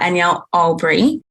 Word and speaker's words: Anyel Albury: at this point my name is danielle uh anielle albree and originally from the bahamas made my way